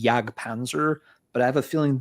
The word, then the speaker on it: Jag Panzer: I wouldn't be the least bit surprised if the band pronounces it Jag Panzer. I I think it's one of those, you know, Sirungle Kirithungle things where technically going by, you know, these rules of grammar of the European languages, it should be Yagpanzer, but I have a